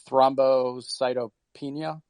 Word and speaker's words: thrombocytopenia: about vaccine recipients who contracted the blood disorder thrombocytopenia. Am I pronouncing that correct, Dr.